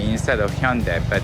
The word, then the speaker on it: Hyundai: the Hyundai instead of Hyundai? But since I'm Korean, I can pronounce Hyundai like in Korean perfectly. But for the people who still know Hyundai as Hyundai, that's why I pronounce the Hyundai.